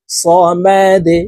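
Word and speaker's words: صمد: বলে উচ্চারণ করব আল্লাহু সামাদে ডাল কলকলা করে ধাক্কা দিয়ে উচ্চারণ করবো সামাদ আল্লাহুস সামাদ আল্লাহুস সামাদ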